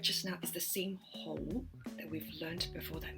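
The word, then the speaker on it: 去: And how do you say go? It's ho, ho in the mid-tone. So it's hanging in the air again, a mid-tone.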